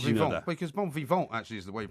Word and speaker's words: bon vivant: Because bon vivant actually is the way you pronounce it.